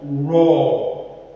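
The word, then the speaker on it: ر: But Ra is an heavy alphabet because when you are pronouncing it, you don't say Ra. Say Ra. Raw, raw.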